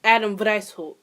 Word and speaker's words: Weishaupt: So, the founder was actually Adam Weishaupt. Wow, Salvatore should know how to pronounce a German last name considering she's been speaking German for almost a year.